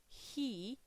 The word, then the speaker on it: he: Donc, petite précision, petit rappel pour le H du he, il doit être obligatoirement prononcé. Si vous ne le prononcez pas, eh bien, c'est une faute, c'est une erreur de prononciation. Il doit être entendu. Il est différent du français, puisqu'en français, le H n'est pas prononcé. Il est silencieux, il est muet.